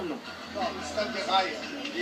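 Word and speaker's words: Raï: Le stade du rail. Pourquoi? Parce que rail, d'abord en niçois, ça s'écrit R-A-I tréma. Le Y n'existant pas.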